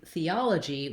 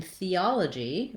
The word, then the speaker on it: theology: And letter G here says the J sound. You could think of it as a letter J if that's easier for you to pronounce. We either spell it with J like job or G like theology or gentleman, for example.